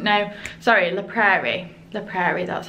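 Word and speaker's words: La Prairie: because I didn't know sorry in the Prairie the Prairie that's how you pronounce it cuz I didn't really know much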